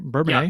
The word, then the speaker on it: Bourbonnais: Bourbonnais, is that pronounced that right? Bourbonnais? Yeah, that's correct. Bourbonnais, that's what I thought.